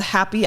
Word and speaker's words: Haapi: I have a podcast called happy hour with Melissa Cho but instead of the word happy it's spelled h-a-a-p-i because I interview API